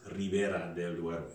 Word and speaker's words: Ribera del Duero: and four are liberated in spanish it's ribera del duero now we have a